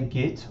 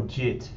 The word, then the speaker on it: Git: However, more recently, Git, or JIT, depending on how you want to pronounce it, has received a lot of publicity and is quite popular with developers.